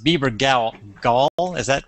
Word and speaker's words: Bebergal: two guests today my first guest is Peter Bieber goal and uh actually pronounced Bieber gal Gaul is that right you got it sure